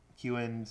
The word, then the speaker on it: Kewen: And you did pronounce Kewen's name right. Oh, good. Thank you. I was doubting myself because I thought it was Keen.